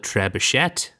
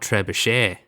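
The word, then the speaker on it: trebuchet: to the audio book you would call it trishette and not trabichet yeah TR that's one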